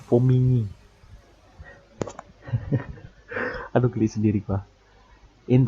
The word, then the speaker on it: Formigny: Ya, namanya tuh Formigny. Nggak di ini Formigny tapi bacanya Formigny.